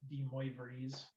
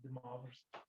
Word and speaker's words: De Moivre: I know it's spelled De Moivre's theorem, but he was a French mathematician, so it's De Moivre's theorem.